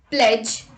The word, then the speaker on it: pledge: myself rule number two d is also not pronounced in the combination dg let's look at the examples pledge dodge grudge hedge etc let's look at the